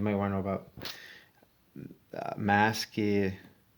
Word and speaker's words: Maskirovka: And speaking of which, if you're going to the Ukraine, you might want to know about Maskirovka. I'll spell it because I probably sounding it wrong. MASK, like mask. IROVKA.